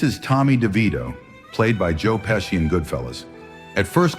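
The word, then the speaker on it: Joe Pesci: One more time, say his name, Joe Peshy, as Tommy Devito.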